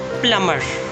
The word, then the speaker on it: plumber: Another similar one is plumber. Again, B is silent because it is coming after M. Plumber, not plumber.